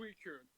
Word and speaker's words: Suicune: I always can't pronounce that name on my first try. It's Suicune. That's how you say it.